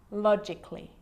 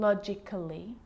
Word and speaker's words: logically: like these romantically musically logically so I'm not pronouncing romantically musically and logically cut the a out get rid of it romantically musically logically now